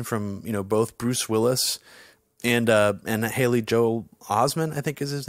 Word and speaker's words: Haley Joel Osment: pretty great acting from both Bruce Willis and Haley Joel Osment, I think is his name. Yes. Is that how you pronounce it? Yeah, Haley Joel Osment.